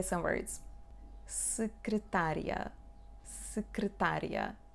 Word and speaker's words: secretaria: Secretaria, secretaria. Pay attention here, we do not pronounce the sound E. Secretaria. And IA make the sound ya.